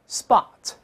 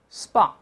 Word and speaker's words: spot: 跟老师先大声来读一下，spot, spot.